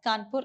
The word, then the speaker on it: Kanpur: city kanpur okay so the kanpur is actually pronounced as kanpur in india okay so then tenacity it is